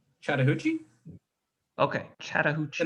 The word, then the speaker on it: Chattahoochee: Chattahoochee? Okay, The Chattahoochee. name, yeah, it's the name of a river in Atlanta.